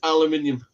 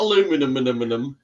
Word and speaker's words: aluminium: It is aluminium. It's not aluminum. aluminum. But you see, the Americans seem to say it as it's spelt.